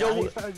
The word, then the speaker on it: Jowuy: Joey. ¿Cómo se pronuncia tu nombre, güey?